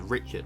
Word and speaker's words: Richard: richard's paradox which is spelt richard but pronounced richard because he was a frog right down in the